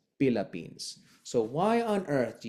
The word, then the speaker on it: Philippines: T is dentalized as a hybrid T and D. So forever is like forever, and Tagalog is Tagalog, and Philippines is Philippines.